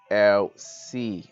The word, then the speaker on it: Elsie: It is pronounced LC, as you can see the pointer right here, LC.